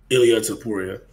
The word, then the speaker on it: Ilya Topuria: Ilya Topuria.